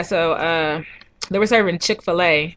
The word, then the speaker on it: Chick-fil-A: uh they were serving chick-fil-a which is not chicka phil really why do you all say it like that shout out to phil